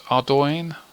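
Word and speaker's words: Ardougne: Pronounce. It's Ardoin.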